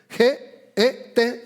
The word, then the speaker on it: get: Una vez más, se llama Get. Get G e T. Sería la traducción más sencilla. Get, aunque se escribe con u, pero así pronuncia.